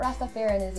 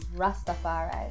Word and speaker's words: Rastafari: Is that how you pronounce it? It's really not Rastafarianism. Tell me. Rastafari.